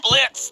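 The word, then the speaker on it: Blitzø: Uh are are you okay, Mr. uh Blitz? The O is silent.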